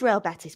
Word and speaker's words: Real Betis: I knew it was Real Betis but people in the chat were saying the way she's pronouncing robettis is wrong I knew it was Real Betis people in the chat